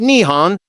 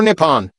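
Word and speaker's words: 日本: The name for Japan in Japanese is written using the Kangi and is pronounced Nihon or Nepon 11 before was adopted in the early 8th century.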